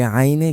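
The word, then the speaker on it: عين: স্বাভাবিকভাবে উচ্চারণ করতে হবে। আইন তিন আলিফ পরিমাণ টান। এটা আরেকটি সমালোচিত হরফ। এই আইনে গিয়ে প্রায় প্রত্যেকেই একবার হলেও হোচট খায়।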